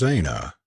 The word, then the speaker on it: Aina: clothes my name is Aina she added pronouncing it a-y-n-a with the Highland lilt in her voice and